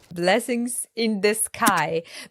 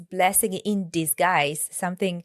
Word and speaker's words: blessing in disguise: Well, it's not blessings in disguise. It's blessings in disguise. What else? Blessings in the sky.